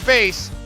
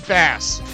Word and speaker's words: Bass: The only in-game pronunciation that the English translation has received for base is Bass.